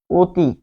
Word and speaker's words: অতি: লিখছে অ দিয়ে কিন্তু বলছে আসলে ও দিয়ে।